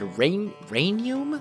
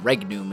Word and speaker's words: Regnum: from Regnum, or as many of you said, Regnum? That doesn't sound right, though. Regnum, everything that I've looked up said Regnum is the correct pronunciation, R-E-G-N-U-M, as in singular noun.